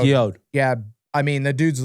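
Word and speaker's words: Guillod: Valentin Guillaude. Guillaude.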